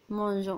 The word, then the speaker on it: mangeons: On a ajouté E entre G et O pour prononcer le son G. Si on supprime E, on dit nous mangeons. Mais il faut ajouter E pour prononcer nous mangeons.